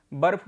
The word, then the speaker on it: बर्फ: तो बर्फ जो शब्द है उसमें भी रेफ मतलब रा का उच्चारण आता है। ठीक है, तो ये देखिए यहाँ पे शब्द लिखा हुआ है। अब इसको पढ़िए, यहाँ पे बा, वर्ण बा, उसके बाद वर्ण फा और उस पर रा, तो ये कौन सा